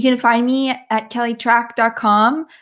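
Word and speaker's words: Trach: find me at Kelly track calm my last name is spelt tra CH even though I pronounce it like track and field you can take the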